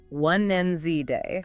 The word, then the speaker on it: Wednesday: But nope, that D is completely silent in modern English. Completely silent. Gone. The accepted way is 1 and Z day.